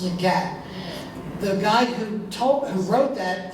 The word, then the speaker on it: Zagat: I called it Zagat. I found out when I did a story for the Society Hill Reporter, the name it rhymes with the cat, so I guess it's Zagat.